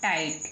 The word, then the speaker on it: tight: Rule number 3 में, यदि किसी वर्ड के लास्ट में GHT आए तो GH दोनों साइलेंट रहते हैं। G और H दोनों साइलेंट रहते हैं, लेकिन T बोली जाती है। आइए कैसे बोली जाती है, एग्जाम्पल लिखा हुआ है TIGHT। तो TIGHT, ये G और H ये दोनों जो वर्ड हैं, G और H ये दोनों नहीं बोले जाएंगे। TIGH को साइलेंट रखना छुपा करके, तो बन गया टाइट, क्या बन गया, टाइट।